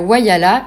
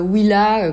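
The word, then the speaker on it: Whyalla: une fois bien arrivé à wayala et non pas Willa comme je le prononce dans les vidéos on a vu profiter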